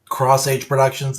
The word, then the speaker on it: xH Productions: Uh, Cross Age Productions, that's how it's pronounced.